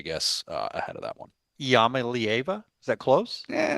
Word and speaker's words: Iamaleava: And so I am a believer in Nico Iamaleava, still crushing the pronunciation of that one.